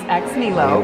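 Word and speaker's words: Ex Nihilo: It's a French brand, and we say it with an American accent, so I could even be saying it wrong, but everyone here says X-Milo, so that's like what we widely accept.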